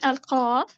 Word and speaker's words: ق: Okay, al-qaf. This letter pronounced from the deepest part of the tongue.